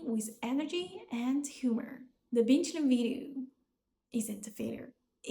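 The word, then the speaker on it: 冰淇淋: The Bīngqílín video isn't a failure, it is a success.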